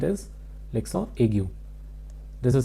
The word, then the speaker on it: l'accent aigu: This particular heading is pronounced as l'accent aigu. In English we say aigu, l'accent aigu.